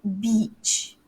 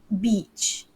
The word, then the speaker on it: beach: want to offend people so it's beach you've got to make it longer your vowel has to be longer so it's like and try to glide if you can glide with your voice so um beach right not the shortened form which could offend people okay oh okay aisha